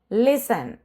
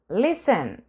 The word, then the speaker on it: listen: Okay, അതുപോലെ തന്നെയാണ് ഇവിടെ ലിസൺ, ലിസൺ, ലിസൺ. T silent ആണ്.